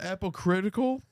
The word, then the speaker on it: apocryphal: This is inspired by the infancy gospel of Thomas, an apocryphal. I'm sorry. How do you say that word? Apocryphal gospel about the childhood of Jesus.